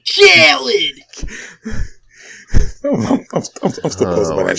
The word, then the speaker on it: Khaled: Major Key by DJ Khaled. What the fuck? No. You're saying it wrong. It's DJ Khaled.